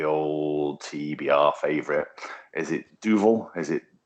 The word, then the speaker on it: Duvel: But yeah, apparently it means devil, so it's Duville.